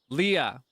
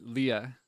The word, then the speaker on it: Leah: Leah. We have agreed. Leah.